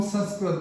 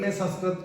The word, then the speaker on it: संस्कृत: जिसे संस्कृत इसको हम संस्कृत बोलते हैं और सभी यही बोलते हैं परंतु उसका शुद्ध उच्चारण संस्कृत नहीं संस्कृत कहते हैं तो इसका अर्थ उच्चारण